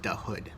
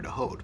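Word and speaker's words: Dahood: This book is pretty good, and it's got a very long afterword by, I think it's pronounced Dahud. Might be Dahud or Dahod, but I think Dahud.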